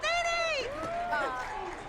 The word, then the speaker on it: Nini: It's pronounced Nini!